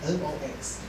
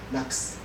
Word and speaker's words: NOx: Now you can pronounce it as NOX. Or you can just say NUX. And for SOX, you can say just say sucks.